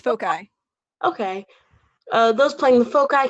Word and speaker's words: foci: It's foci.